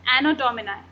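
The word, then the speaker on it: Anno Domini: इसका correct pronunciation क्या है, एनो डोमिनाई।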